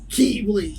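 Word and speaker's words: χ-blade: And it's just weird because it says X and they go Keyblade. Yeah, because it's using the Greek pronunciation.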